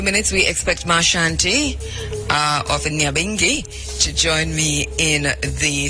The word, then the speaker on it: Nyabinghi: You know, we learned last week that the correct pronunciation, or the pronunciation of the name of Nyabinghi, and by the way, we also learned the spelling in the research, because transported here, there's an H that has been placed in, but from the research, my understanding is that there's no H in Nyabinghi.